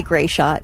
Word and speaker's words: Gratiot: They usually say Gray Shot.